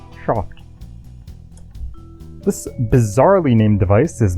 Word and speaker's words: SHOFT: And yes, you heard that correctly, it's pronounced SHOFT. As in the way the word soft would sound if the original James Bond, the late great Sean Connery, said it. SHOFT.